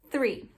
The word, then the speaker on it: three: Three.